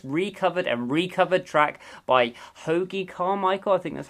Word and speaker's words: Hoagy Carmichael: of the infamous recovered and recover track by Hoagy Carmichael think that's how you pronounce it and his classic Stardust now this